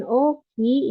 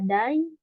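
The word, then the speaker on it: 大: Selain Oki, ini cara bacanya juga ada Dai atau Tai ya. Dai atau Tai. Gitu. Jadi cara bacanya ada 3. Oki, Dai, sama Tai.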